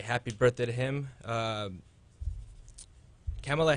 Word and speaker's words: Kamala: birthday to him um kamela harris is that you pronounce her name oh she's the vice president kamala harris yes yeah okay yeah she